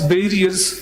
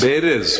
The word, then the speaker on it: bearers: We have annexed these proofs in the sense that these office barriers joined other political parties. Bearers, please pronounce it correctly. Bearers.